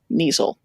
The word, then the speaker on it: kneazle: your call a meta kneazle it's not that it takes which I would like to point out rhymes with weasel which I feel is